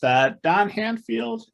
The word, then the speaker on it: Handfield: I'm chatting with Don Handfield and Joshua Malkin. Did I get both of those pronounced correctly? Yep, you did.